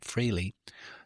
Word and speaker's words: Frehley: Which band were Paul Stanley, Gene Simmons, Peter Criss, and Ace Frehley, sometimes pronounced Frehley, the original members of?